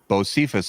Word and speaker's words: Bocephus: How do you spell it? It's BOSPHORUS. Yeah, so that's Bosphorus. Bosphorus. But Bocephus apparently is the way they're going with it.